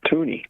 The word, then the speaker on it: toonie: Well, then it's a toonie. Oh, that's so sweet, Mikey. The whole country. Oh, that's precious. It's a little loony here, a little loony and toony. Like MCToon, it rhymes with MCToon, a little MCToony here.